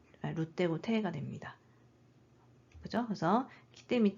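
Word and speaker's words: 着: 착도 돼요 도착하다 읽을 때는 똑같은 한자 쓰고 스라고 읽죠 근데 옷을 다라고 할 때는 키라고 읽어요 여기서는 키 그다음에 여기 미루가 붙은 표현입니다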